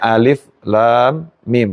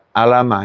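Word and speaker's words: الم: Bacanya alif lam mim, bukan alama.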